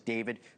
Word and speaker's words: D4vd: This is the case against the pop star David Anthony Burke, better known as David, spelled with a 4.